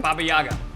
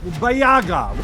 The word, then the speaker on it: Baba Yaga: How do you pronounce that again? Baba Yaga. Wait, Bayaga.